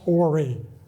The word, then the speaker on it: Horry: But again, Peter Ory from Horry County, and it's pronounced Ory, okay? Not the other way, not the improper way. But Peter Ory from Horry County, he was a